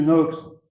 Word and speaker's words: Knox: Knox, ou Knox, pardon, je crois qu'on prononce pas le cas en anglais, monsieur Knox, quand même, vous prétendez